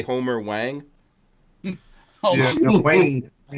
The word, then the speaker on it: Wayne: Yeah, Wayne. Wayne, like spell it. Whiskey, Alpha, Yankee, November, Echo. Wayne, not Wayne.